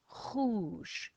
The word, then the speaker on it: rouge: Ou, j, rouge, rouge is red.